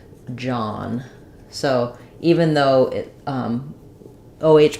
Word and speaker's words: John: And the letters OH say the ah sound like in father. So I would probably rewrite that like John.